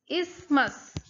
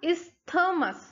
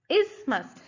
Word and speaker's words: isthmus: these are called ismas the th is silent so how will you pronounce pronounce it it will be like this is must and not is thermos no we are going